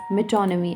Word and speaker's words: metonymy: This is pronounced as metonymy.